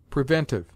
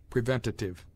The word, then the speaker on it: preventive: the careless for presumptuous preventive a useless and unwarranted syllable is sometimes added to this word preventative previous this adjective is